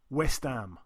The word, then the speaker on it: West Ham: bit uh like uh we don't even pronounce the h because it's too long we we just call it West West am West am that's what